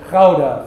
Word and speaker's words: Gouda: Something similar to that is the difference in pronunciation of the word Gouda. The Dutchman pronounces it Gouda from deep in his throat.